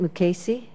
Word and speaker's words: Mukasey: Is it Mukasey?